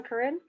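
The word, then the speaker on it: Corinne: all sides is terrific karen i love your maybe i said your name wrong corrine that's right okay okay good i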